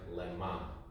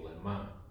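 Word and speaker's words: למה: It actually is spelled exactly the same, but pronounced lemma. Like, what do you need that for? Right? For what do you need that? You'd say lemma.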